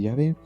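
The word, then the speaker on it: Yahvé: es decir que la pronunciación jehova es una pronunciación defectuosa el nombre de llave en los años 1600 comenzaron a traducir la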